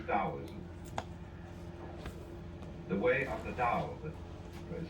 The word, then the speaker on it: Tao: They might just as well have spelled it D-A-O or D-O-W.